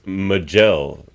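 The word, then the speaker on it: Maj'el: the Vulcan well well it's Mel but it's spelled magel with it's a little nod to Mel Barrett Roddenberry there I didn't catch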